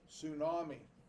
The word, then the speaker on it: tsunami: little bit strange t-s-u-m-a-n-i it's a silent t i don't know why we do that in english language we just make up certain rules for no reason we're gonna have a silent t at the beginning of a word tsunami i was watching